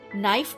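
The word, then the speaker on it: knife: का प्रदर्शन करते हैं नाइफ में क तो साइकोलॉजी में प उच्चारण रहित होता है मैं खुश किस्मत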